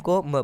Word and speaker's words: comb: जैसे कि एग्जाम्पल देख लेते हैं, COMB, यानी CO को हम कू पढ़ेंगे, ठीक है, और MB को हम MB में से B साइलेंट रहेगा और M को म पढ़ेंगे, तो ये हो जाएगा कूम।